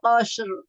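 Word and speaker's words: قصر: Ini ro-nya tebal. Qasr. Ya, jadi jangan qasr, tapi qasr. Jadi tetap tebal ro-nya. Diulang Ustaz. Innaha tarmi bisyararin kal qasr. Ya, aneh ya. Bunyinya jadi tebal, jadi qasr. Jadi jangan disambungin qasr. Jadi r-nya itu tebal, qasr.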